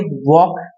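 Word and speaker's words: walk: हैं तो उसके लिए वक वक वक ठीक है इसे वॉक पढ़ेंगे वॉक वॉक य प एल साइलेंट है ठीक है लाना आप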